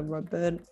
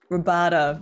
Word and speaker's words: Roboto: I'm going to go ahead and also take this one, the Roberto. How do you say it? Roboto.